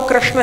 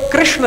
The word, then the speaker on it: कृष्ण: मान लिया देखने में और उच्चारण करने में कृषणा कृषणा में क का और ऋ का अलग से पृथक पृथक उच्चारण नहीं है संयुक्त उच्चारण है तो उच्चारण में जो